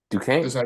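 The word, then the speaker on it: Duquesne: BYU versus the quisine Duan Duane Dam that's how you say it that's crazy yeah it's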